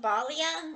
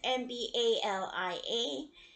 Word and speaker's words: Mbalia: By, I don't know if I'm saying this name right, Kwame Balia or Malia. I'm not sure how to pronounce that last name. I apologize. It's Mbalia.